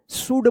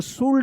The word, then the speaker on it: should: जैसे यहाँ पे लिखा हुआ है SHOULD, देखिए यहाँ पे भी क्या है कि एल है, तो यहाँ पे भी क्या है कि यहाँ पे साइलेंट रहेगा एल, शुड पढ़ेंगे, शुड, इसको शुल्ड मत पढ़िएगा, ठीक है ना।